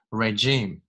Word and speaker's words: regime: 这个单词念 regime, murderous regime in Iraq, where 从句前面可以 tiny pause，